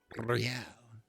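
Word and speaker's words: réal: hundred and thirty real real he pronounces the r with a mock aristocratic iir or inter isolary real is the global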